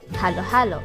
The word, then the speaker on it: halo-halo: spell it as halo halo and you typically pronounce it as halo halo not hallow hallo but based on the commission